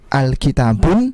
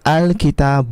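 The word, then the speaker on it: الكتاب: cara bacanya akan berbeda bukan Alkitab pun bukan tetapi kita baca dengan bacaan Alkitab uh the matanya hilang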